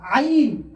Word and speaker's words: عين: আর আইন, আইন বার হয় কণ্ঠনালী অর্থাৎ এই গলার মাঝখানের অংশ থেকে। আইন আইন আইন।